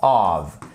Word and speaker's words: of: Donc faites vraiment attention déjà à bien prononcer. Of, off.